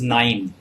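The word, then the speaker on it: KNIME: tricks and nine and thus nine is spelled as k n i m e yeah uh so this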